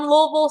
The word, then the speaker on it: Louisville: I said that wrong people from Louisville say Louisville I was trying to say it right for you all but it's Louisville so University of Louisville